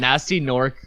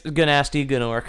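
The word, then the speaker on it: Gnasty Gnork: Nasty Nork, spelt with 2 silent G's. Yeah, it's Ganasty. Okay. Yeah. It's Ganasty Gnork.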